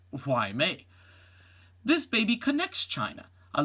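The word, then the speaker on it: Hua Mei: 100 days after her birth, a little panda receives her Chinese name, Why May, pronounced Why May.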